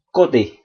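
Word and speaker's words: côté: code ini dibaca code tapi kalau huruf e terakhir itu ada aksongnya maka dia wajib dibaca e sehingga ini di jangan ragu langsung dibunyikan atau diucapkan kote Oke deh demikian untuk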